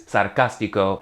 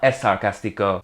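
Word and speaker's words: sarcástico: But bottom line, sarcastic is sarcastico, not esarcastico. Then check out this second but different exception.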